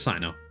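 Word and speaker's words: Cyno: __ ] introduce himself I'm Sino okay so it is Sino all right and Candace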